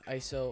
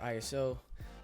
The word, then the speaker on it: ISO: exposure triangle is ISO you may hear pronounced ISO or ISO but in the end it doesn't matter it means the exact same thing now what that